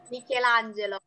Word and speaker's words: Michelangelo: Cara bacanya gimana? Michelangelo. Gimana? Michelangelo. Bravi. Sì. Jadi ya kalau I dibaca I, E dibaca E.